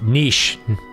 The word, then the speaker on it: niche: Niche would be the French pronunciation because it's the loan word, technically.